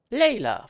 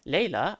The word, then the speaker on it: Layla: Layla, verträumter Abendstern. Layla. Layla, nicht Layla. Was? Achso, ich dachte jetzt, hä? Das ist abgeschnitten. Layla, eine Studentin. Immer noch falsch. Layla. Layla. Wie I.